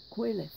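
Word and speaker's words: Qoheleth: the first line of our reading today today quelith it is spelled q o h e l e t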